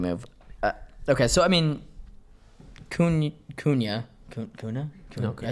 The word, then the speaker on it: Cunha: Okay, so I mean, Cunha.